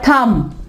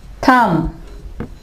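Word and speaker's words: thumb: इसके अलावा थम, थम।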